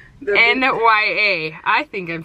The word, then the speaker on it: Nya: Her name is Nya. N-Y-A. I think I'm saying it right, but apparently it doesn't sound like it. It sounds like now. Now, she said. No, it doesn't. It's Nya. Yeah, it's Nya.